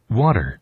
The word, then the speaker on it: water: 그래서 이 워터의 발음이 워터가 아니라 water, 이렇게 됩니다. 한 번 더 들어볼까요? water, water 이렇게. 나중에 또 한번 설명드릴 텐데 water 강세가 앞에 있어서 이 모음하고 모음 사이의 t는 또 굴려 미국 사람들. 그래서 발음이 water 아니라 water이 되게 이상해요. water 이렇게 씁니다. 그래서 강세가 앞에 줘야 돼요. water 아니라 water 이렇게. 다시 water 아니라 water 이렇게.